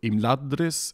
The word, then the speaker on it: Imladris: dr and thr, and so according to the pronunciation rules which we've been told, they should both be stressed on that second to last syllable, so Imladris and Nargothrond.